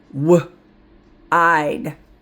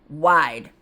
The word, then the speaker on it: wide: W. I'd. Wide. We're not going to say wid. Nope. Wide.